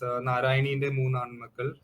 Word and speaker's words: Narayaneente Moonnaanmakkal: Uh, what's the what's the correct pronunciation? Because I'm So it's the original title is Narayaneente Moonnaanmakkal, which translates to Three Sons of Narayani in English.